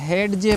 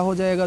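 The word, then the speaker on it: hedge: एडजे नहीं एज पढ़ेंगे हैड ज नहीं हैज पढ़ेंगे वेड ज नहीं वेज पढ़ेंगे क्यों क्योंकि डी साइलेंट है ये आप याद रखिएगा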